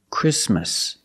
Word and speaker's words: Christmas: exactly or the word Christmas we don't say Christmas the t is between consonants so it is silent link the sound with the um Christmas Christmas and it's not